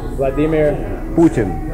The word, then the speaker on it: Vladimir Putin: how to say it what is the correct pronunciation of the name of the President of Russia Vladimir Vladimir Putin Putin does he know you're here uh well